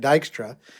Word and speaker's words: Dykstra: name was aaron dykstra i said it wrong earlier so i'm now needing to say it right dykstra and he's in middleton